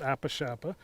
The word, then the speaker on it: Apishapa: after the episode ranch it's hard to pronounce it's always pronounced apa shapa uh but it's it's